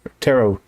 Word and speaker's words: tarot: help us with letters the t is silent just kind of like how when billy madison was trying to spell rock and he said roc but it was r-o-c-k because the k is silent so tarot cards we're